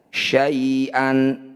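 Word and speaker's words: شيئا: Cara bacanya bunyi fathah tanwin kita ganti jadi fathah panjang. Awalnya syai'an, ketika dihentikan syai'a.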